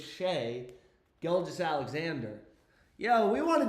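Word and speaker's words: Shai: You've been saying shy for the past two years, dude. Again, it's not Shay, right? It's not shy. It's Shay. Shay. Gilgis Alexander. It's not shy. GIS Alexander. It's Shay Gis Alexander.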